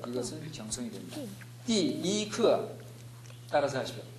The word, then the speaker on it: 第一课: 띠이크 네, 이게 잘 안 되는 이유는 띠 사성입니다. 해보십시오. 띠 그 다음에 이를 발음할 때 띠 발음할 때 이 발음을 여러분은 이미 의식하고 있습니다. 그래서 띠 사성과 일성이 연결이 안 되는 것입니다. 띠를 천천히 발음하고 그 다음에 이를 천천히 발음합니다.